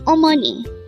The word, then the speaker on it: 어머니: word for today is omoni this is pronounced as a three syllable word first syllable is O second syllable is Mo and third syllable is NI pronounce it with meon